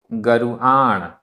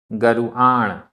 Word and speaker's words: गरुआण: गरुआण, गरुआण। यहाँ रा में छोटे ऊ की मात्रा है। गरुआण।